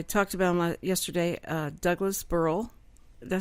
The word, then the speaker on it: Burrell: And I talked about him yesterday, Douglas Burrell.